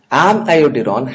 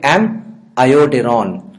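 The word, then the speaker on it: amiodarone: So I am not calling it amiodurone, I am calling it amiodurone. Always pronounce it like this, is going to help you to remember the iodine, amiodurone.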